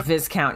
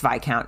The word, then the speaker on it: viscount: first guy kept calling him fight discount yeah fizzcount yeah cause it looks like it oops it looks like it uh should be pronounced vizcount this count v-i-s-c-o-u-n-t um but it's vi count and yeah i'm not gonna lie to you